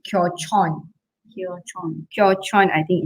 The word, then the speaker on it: Kyochon: I pronounce it as kyochun, but I think it's kyochon.